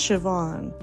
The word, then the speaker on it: Siobhan: never heard of cahan well guess what it's pronounced Shian I have such a